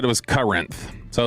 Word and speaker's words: Corinth: There's the sign, and I've read Corinth every morning until my father-in-law said he lived there, and it was Corinth. So that's the problem. You don't even pronounce the O.